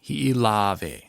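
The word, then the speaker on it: Hiʻilawe: And so in this case, we have the okina between the E and the E, Hawaiian E. So hi'i. If there was no okina there, you would run it together and you would only get really one E sound.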